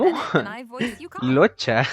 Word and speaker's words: Luocha: Locha, lo pronuncia en inglés, Locha. En japonés no sé cómo era la pronunciación, pero yo lo leía como Luoka. Aunque puede ser Luocha What's igual.